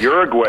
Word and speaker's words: Uruguay: the more than 50% oddly you have Ur Uruguay uh am I pronouncing that right yes Uruguay is is legalizing it across the board but